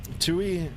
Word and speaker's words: TUI: By the way, Sky Ti is just pronounced um Tui and not uh T.